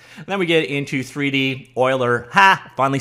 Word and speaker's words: Euler: got polar coordinates then we get into 3d euler ha finally said it right you people angles